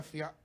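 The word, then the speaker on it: fiancé: Well, you got a fiance. That's a weird way. That's so weird that I still have to use like that word. That's weird. Fiance? Yeah, I mean, it rhymes with Beyonce.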